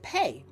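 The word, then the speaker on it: PAE: I also created the P AE method and quite candidly that is pronounced pay the pay method and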